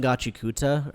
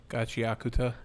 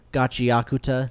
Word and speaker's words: Gachiakuta: And yeah, that said, I start I kept watching Gachikuta. How do you say it? Gachiakuta. Gachiakuta.